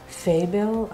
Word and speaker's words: Faebil: And the artist's name is Faebil. I hope I'm pronouncing it right.